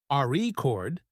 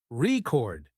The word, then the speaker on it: record: a word that's true for example in the word record if you stress the first syllable re chord it's a noun but if you stress the second syllable record it's a verb practicing stress and intonation